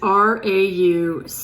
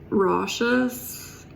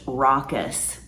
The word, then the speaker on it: raucous: a down pat hey Randy the word is r-a-u-c-o-u-s and it's pronounced rashes roushouses reactus no brushes Ruckus now the word is pronounced raucous raucous she said rayokoose rashes I can't Laura